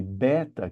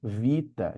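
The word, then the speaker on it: βῆτα: Por exemplo, a letra que a gente chama de beta, que tem o som de B, para eles é vita e tem o som de V.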